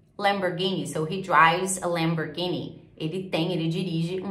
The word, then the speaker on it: Lamborghini: porta né então é Fury Lamborghini e inglês Lamborghini Lamborghini ele tem Ele dirige um Lamborghini Ok Lamborghini